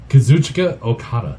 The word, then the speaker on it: Kazuchika Okada: Kazuchika Okada.